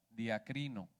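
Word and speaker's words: διακρίνω: Una definición, hermanos, según el diccionario Strong, en el original esta palabra duda viene del griego y se pronuncia diacrino.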